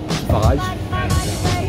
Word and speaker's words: Fage: Also, I like Faj. Faye. Wait, is Faye? Yeah. It says on the thing, like, it's pronounced Faye.